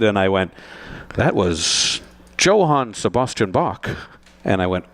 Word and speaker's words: Johann: So I did, and the piece ended, and I went, that was Johann Sebastian Bach. And I went, and he comes in and goes, it's Johann.